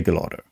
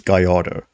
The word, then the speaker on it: Gallardo: In Italy, you say Gallardo. I know that for a fact. The rest of the world says Gallardo because that's the Spanish way.